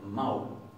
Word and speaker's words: mál: Esto lo que está diciendo es que esto no se va a pronunciar mal, sino que se va a pronunciar maul.